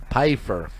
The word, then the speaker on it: Pfeiffer: How'd you pronounce that last name? Pfeiffer. Kind of like Sofer. PH yes. Pfeiffer.